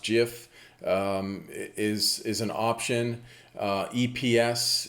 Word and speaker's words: GIF: best worst case scenario the gif format pronounced jiff is is an option